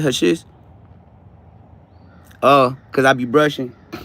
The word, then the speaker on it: hashish: Hashish, that's how you say it, hashish.